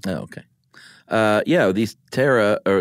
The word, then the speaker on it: pterosaur: okay uh yeah these Tara or it starts with a P of course is silent P um that is from